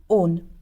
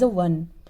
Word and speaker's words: -one: corresponding alkane name to -one. Now student, in this O and E, this ending, it is always pronounced as -one and not as a one.